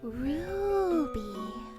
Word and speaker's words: Ruby: Stella, you never say my name right. It's Ruby. You gotta say it with the roo.